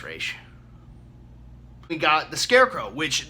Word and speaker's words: Ra's al Ghul: we got Rachel Ghul well they call them Ra's al Ghul but it's Rach it's pronounced raesha we got the Scarecrow which the Scarecrow is